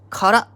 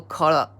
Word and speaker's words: 空: And is pronounced sora and kara in Japanese. Sora or kara, sky or empty.